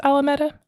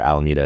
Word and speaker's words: Alameda: Is that how you pronounce Alameda? Alameda? Alameda. Yeah. And you can also watch Star Trek 4, where it's one of the few times where Alameda is ever mentioned in a movie, where the